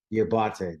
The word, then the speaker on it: Diabate: And I cannot pronounce that middle linebacker's name to save my life. Mumad Diabate. Diabate.